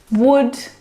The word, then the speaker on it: would: other English words that have a silent letter L in them. Words like salmon, Salmon. not salmon. Salmon, not salmon. Half, Half. not half. Half. Half. Would, Would. talk, مش would. walk. All of Talk, these words have a walk. silent L in them, which makes them a little bit tricky to pronounce correctly.